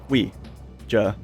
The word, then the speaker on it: Ouija: the French word we like the word for yes in French oh you I mean you know we means yes so the word just kind of you know is you know just pronounced like that Ouija board we JA board yeah funny videos you